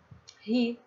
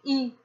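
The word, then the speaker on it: היא: Aqui eu tenho um R aspirado, um H, né, de hotel, então é, e mais um alif que é mudo, então eu terei ri, ri. Ri. Ri é ela. No caso aqui, dependendo da região, dependendo do local, né, a pronúncia pode mudar. No, em vez de ri, você pode falar também i, que também é entendido.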